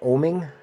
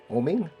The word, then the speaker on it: Oeming: art by Mike Avon I think that's pronounced oming oming and Judge Dread is